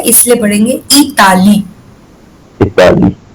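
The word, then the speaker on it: Italie: Because I को हम French में ई बोलते हैं इसलिए पढ़ेंगे इताली. Italy. हाँ. Italy. हाँ. And the last word we do not pronounce in French.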